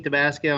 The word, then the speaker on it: Tabasco: bridge and that's debasco morning uh my name is did I pronounce it right yes you did pronounce your name just like the hot sauce all right uh my